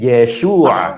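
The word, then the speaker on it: ישוע: So again, uh the sheen with the right dot, so it's sh. And then the vav with the dot inside, so that's oo.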